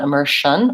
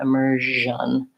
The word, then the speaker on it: immersion: the boys version immersion we don't want Amercian or margin they want immersion and then there's lastly